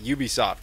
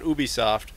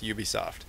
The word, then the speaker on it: Ubisoft: up in discussion uh Ubisoft that's how you pronounce it not Ubisoft we asked them very specifically though it's Ubisoft and uh thank you Ubisoft